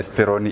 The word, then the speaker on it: Speroni: No, it's actually Speroni Irrigations.